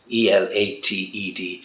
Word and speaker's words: elated: his spirits were lifted ela te d elated in caso and get that stress and the pronunciation correct elated so again that higher